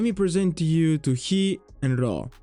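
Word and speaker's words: χι: He is what you commonly know as X. And following the same principle as vita, he doesn't make an X sound, but a softer one. He, as in heri, or in horo.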